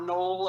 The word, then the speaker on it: Noel: set in Wisconsin winter town called Noel, or Knoll as it's pronounced in the story.